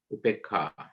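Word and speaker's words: Upekkhā: It's spelled Upekha, long A, pronounced R, Upekha.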